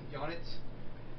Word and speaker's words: Janit: You said Janet. Fucking goddamn it. Damn it, Janet! Janit. Damn it, Janet. I love you. It rhymes with bonnet.